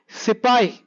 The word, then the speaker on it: sepoy: companion new words sepoy this is how the bit is pronounced the word sepay meaning an indian soldier